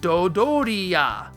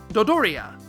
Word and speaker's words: Dodoria: In Japan, it's known as a dorian, dorian. Toriyama takes that, chops off the mmm, and doubles the dough. And there you go, Dodoria. Dodoria.